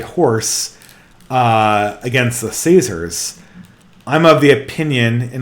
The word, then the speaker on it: Caesar: It's Kikero. And it's Kaiser, not Caesar. Because didn't you know, guys, Latin had a hard C, not a soft C.